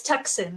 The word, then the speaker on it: Tucson: Tucson, why do you have to spell it that way? I know it's Tucson, right?